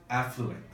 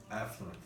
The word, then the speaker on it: affluent: And one more pronunciation when you said affluent. Affluent. Affluent sounds like a fluent English speaker.